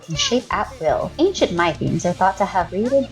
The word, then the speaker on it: Mytheme: Voidcritter and got a Mytheme card in return Mytheme? [pronounced like "my theme"] Mytheme? [pronounced like "me them"] Let's go with "my theme" Rarity: Uncommon Limited edition foil card Element: earth Power level: 5!?